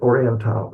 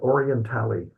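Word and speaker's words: Orientale: yeah, that's it, Oriental. There's someone on news kept calling it Orientali, but I guess they don't know how to pronounce Latin.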